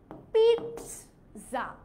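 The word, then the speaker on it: pizza: পিৎজা হচ্ছে একটা Italian শব্দ, সো ইটালিয়ানরা যেভাবে উচ্চারণ করে সেভাবেই বলতে হবে। ওরা কি বলে? ওরা বলে পিৎজা।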